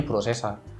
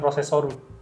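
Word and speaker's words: プロセッサ: prosesor sebetulnya Oke tapi kalau lu nyebutnya pakai ee apa ya pakai pron S Jepang itu jadinya prosesa bukan prosesoru Enggak prosesa biasanya kalau Inggris tuh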